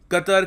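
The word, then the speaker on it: Qatar: Oman Saudi Arabia UAE कतर कतार भी pronounce करते हैं इसको मैं कतर बोलूंगा कतर बेन अब देखो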